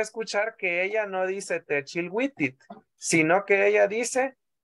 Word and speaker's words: Tichilwitit: La vamos a escuchar la canción después de hacer la traducción, y usted va a escuchar que ella no dice Techilwitit, sino que ella dice Tichilwitit.